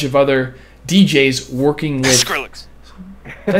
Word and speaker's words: Skrillex: kill you dude yeah i've always called him skill rex but it's skrillex s-k-r-i-l-l-e-x i even know